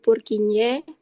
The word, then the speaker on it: Purkinje: Ee sama Kak panah birunya itu menunjukkan struktur serabut purkinye terus ee di lapisan subendokardium. Oke, Sia nih. Boleh, boleh, boleh. Oke, Kak, terima kasih atas kesempatannya. Iya, itu benar. Eh, serabut Purkinj Purkin ya bacanya.